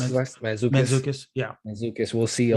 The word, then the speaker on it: Mantzoukas: How do you Mantzoukas, pronounce his last? Mantzoukas, yeah.